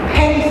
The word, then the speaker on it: panis: 패니스. 이거 잘못 발음했다가 진짜 큰일 나요.